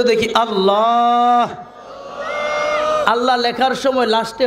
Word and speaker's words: আল্লাহ: আল্লাহ নামের মস্ক করাইছেন আল্লাহ লাস্টে হাটা উচ্চারণ করবেন অনেকেই হা উচ্চারণ করে না আপনার নাম যদি থাকে